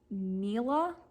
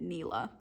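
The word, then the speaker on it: Nella: and its mysterious owner, Neela, I think. It's Ella with an N in front of it. I'm going to pronounce it Neela, who sells well-disguised poisons to use against the oppressive men in their lives.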